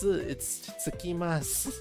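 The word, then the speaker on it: 着きます: Oh my god, it's not. It's tsukimasu. What am I reading?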